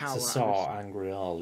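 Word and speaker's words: Sa'angreal: It's the Sar Angreal, isn't it?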